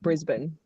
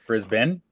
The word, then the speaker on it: Brisbane: I should be saying Brisbane not Brisbane yes it's not it's not ban some people call it